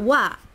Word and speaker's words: は: pronounced as ha.Okay, but as a subject particle, it is not ha, but wa.